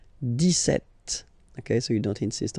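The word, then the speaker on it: dix-sept: But then for the pronunciation, 17.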